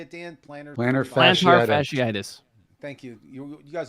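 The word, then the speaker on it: plantar fasciitis: planners how do you say it Dan planner plan fasciitis thank you you you guys are both doctors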